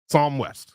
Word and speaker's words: Psalm West: How do you spell it? Psalm. Psalm. Psalm West.